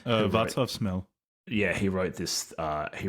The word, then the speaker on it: Václav Smil: And there's Vaclav Smil. Is that how you pronounce the guy's name? Václav Smil.